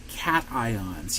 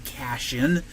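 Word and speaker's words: cation: that means they become cat ions yes that word is pronounced cat ion no I don't want to hear you saying cashion it's a cat Okay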